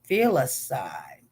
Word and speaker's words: filicide: Oh, filicide. Let's pronounce it.